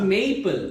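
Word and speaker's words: maple: যায় বুক বুক এরকম বলে বুক এই যে আমরা স্ট্রেট বলি না ম্যাপেল ওটা ম্যাপেল বলে কিছু না মেপল মেইপল এইটাকে এই বলতে হতো আর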